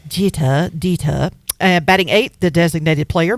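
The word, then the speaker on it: Deter: It's spelled D-E-T-E-R, so I'm thinking it's Dita. As in Jita? Yes, Dita.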